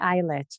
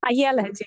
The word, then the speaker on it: Ayelet: My name is like the sentence I yell at.